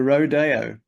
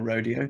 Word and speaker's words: rodeo: The Rodeo, or Rodeo, depending on how you say it, by myself.